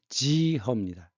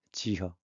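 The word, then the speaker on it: 幾何: 중국 발음 어떻게 돼요? 지허입니다. 지허.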